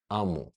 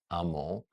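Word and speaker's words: Aamu: how Egyptians pronounce things Scholars kind of agree that these three hieroglyphics uh or four that these are to be pronounced AMU this word appears hundreds of times in the Bible in the Hebrew Bible the the original Bible to this day we call Israel is the people of Israel the three Hebrew letters that spell AMU that you can also pronounce Amo it's the same letters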